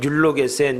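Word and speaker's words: εὐλογήσας: 이 축사라는 말이 헬란말로 율로게센 이렇게 발음을 하는데 감사라는 뜻입니다.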